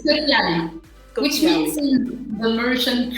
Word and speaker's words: Piali: It is called Piali. Did I say it right? Yes. Amazing. Yes. It's Piali.